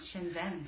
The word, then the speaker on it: Shenzhen: Shenzhen. Is that how you pronounce? Yeah. Shenzhen.